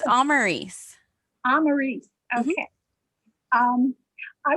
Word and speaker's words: Amaris: be far behind hey amara i have is that how you pronounce your name i read it all the time and i'm not sure how to pronounce it no worries it's amarys i'm maurice okay um